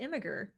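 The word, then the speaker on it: Imgur: correctly i know it i know everyone says imager it's actually pronounced imager my mind's blown today it hurts i know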